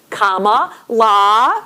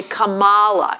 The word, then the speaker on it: Kamala: proper name, which we all know is comma la, right? Like comma in a sentence and la as we heard from her little nieces at the convention. But Trump will deliberately say Kamala and mispronounce her name.